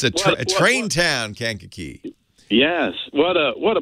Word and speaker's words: Kankakee: guy you know how I know how to pronounce Kankakee I've been wrongly oh I've been riding on the city of New Orleans there you go it's a train town Kankakee yes what a what a pleasure to talk